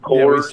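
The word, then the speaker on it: Kohr's: It's Coors, K-O-H-R-S. I think it's pronounced Coors.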